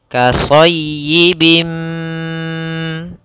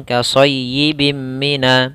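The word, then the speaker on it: كَصَيِّبٍ مِّنَ: Cara membacanya, masukkan tanwinnya ke mim, kemudian ditahan suara mimnya. Kasayyibim, tidak langsung kasayyibim mina, tapi ditahan dahulu gunnahnya. Karena idgham yang disertai dengan gunnah.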